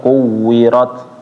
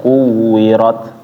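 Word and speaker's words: كُوِّرَتْ: Kuwirat itu ada yang tahu kenapa dia dibacanya quwirat? Ada kayak ada sisan di akhir hames. Ya, nama sifatnya adalah Hames. Jadi ketika dia berhenti ada aliran napas sedikit ya, sedikit aja. Idzasyamsu quwirat. Quirat jangan berlebihan ya.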